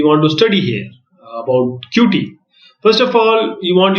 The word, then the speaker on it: Qt: But first, Qt, pronounced as Qt, this is a cross-platform application development framework for developing GUI.